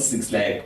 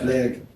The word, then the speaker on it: 6LACK: right here I mean he's not six lag by the way man he's PRC but black pronounced black just for those like who know him is six L anyway